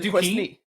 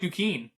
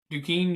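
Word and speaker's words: Duquesne: hold on isn't it dney it's in Pittsburgh D I'm pretty sure it's like duen duen University cuz that s is silent I know that Queen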